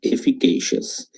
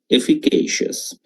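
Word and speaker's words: efficacious: উচ্চারণটা কি? এফিকেশিয়াস। এফিকেশিয়াস।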